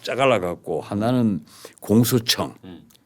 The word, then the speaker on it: 공소청: 기존 검찰청을 완전히 딱 짜갈라 갖고 하나는 공소청. 근데 거기 이제 발음이 우리가 중요해요. 예. 공수가 있고 공소가 있습니다.